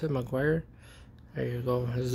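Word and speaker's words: Meguiar's: That's how you pronounce it, Meguiars.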